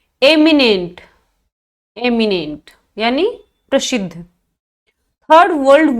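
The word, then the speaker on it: eminent: 3 words हैं, एमिनेंट, इमिनेंट और इमेनेंट।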